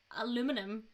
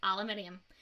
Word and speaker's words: aluminium: no no it's legitimate because all americans all americans say aluminum when it is spelt aluminium that's how no aluminum no there's an eye after the am at the end of it it's aluminium anyway moving on we are